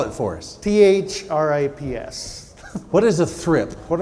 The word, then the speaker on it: thrips: me to start with is what is a thrift thrift thrift spell it for us th RI PS what is a thrift what are thrips and